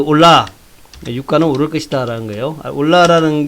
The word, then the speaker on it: Hola: 올라라는 게 이제 스페인 말로 안녕하세요 이런 얘기입니다. 근데 발음은 올라.